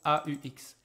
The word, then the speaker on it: aux: I have this X that shows me this is pluriel, but the pronunciation is exactly the same. No difference.